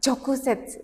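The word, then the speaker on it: 直接: Jadi di sini kita baca at jok set at hanone jok ya chok set ini dibacanya chokuset oke sudah bisa dihafal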